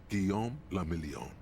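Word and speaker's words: Guillaume Le Million: meant only one thing Gom lilon if it doesn't rhyme you're not pronouncing it right out of the dazzling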